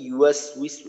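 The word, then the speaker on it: يُوَسْوِسُ: আল্লাযী ইউওয়াসউইসু এইখানে একটু দেখা যায় যে নের উচ্চারণটা একটু এক্কা লাগে, অথবা আপনার ইউ উচ্চারণটা একটু লম্বা হয়ে যায় আংশিক।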